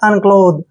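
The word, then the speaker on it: unclothe: लो, ऐसे, और टी एच ई का उच्चारण क्या करते हैं हम? द। अनक्लोथ, क्या पढ़ेंगे इसको?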